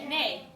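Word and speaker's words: neigh: a for letter a e i g h always says what a a and you can put an n in the front of it and what is a horse n nay you can put a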